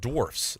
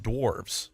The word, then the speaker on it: dwarfs: First is that it's pronounced dwarfs, not dwarves.